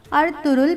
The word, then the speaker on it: Ertuğrul: ज़बान में है और टर्किश ज़बान में गैन साइलेंट रहता है। अर्तुगरुल का असल तलफ़्फ़ुज़ क्या है? अलिफ के ऊपर ज़बर होगी, तोई के ऊपर पेश पढ़ेंगे और रे के ऊपर भी पेश पढ़ा जाएगा, यानी इसको अर्तुगरुल पढ़ा जाएगा।